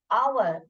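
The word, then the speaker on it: hour: क्योंकि ये जो है, इस हेच का साइलेंट जो है, साउंड, हेच का जो साउंड है वो साइलेंट है। यहाँ पे क्या बोल रहे हैं आप? आवर, आ ओ का साउंड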